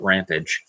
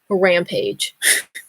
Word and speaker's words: rampage: now on yeah yeah apparently if you're using it as a verb you're supposed to pronounce it ramp äj-- damn right can you try saying it the noun way a rampage I did it ramp